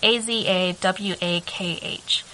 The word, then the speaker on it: Azawakh: The Azawak dog. It's Azawakh.